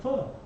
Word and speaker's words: pho: I eat pho. Okay. I eat pho.